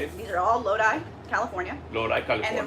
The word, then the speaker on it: Lodi: These are all Lodi, California.